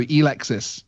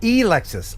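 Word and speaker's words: Elexus: member is actually saying it's a long e so e-lexus oh e-lexus okay thank you for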